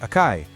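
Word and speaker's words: 赤い: Then you have the adjective, akai, pronounced akai, which you use to describe something as being red.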